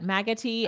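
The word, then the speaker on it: Maggotty: So, um Jill says just Jill's saying clean water station is set up in uh Loretta, how do you pronounce that? Maggoti at the police station.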